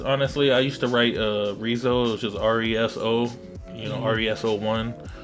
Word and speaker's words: Resoe: So yeah, I ended up, fucking evolving into Reso. So, that's how I pronounce it and shit. Some of the homies be like, they think it's Rezo, like some Hispanic homies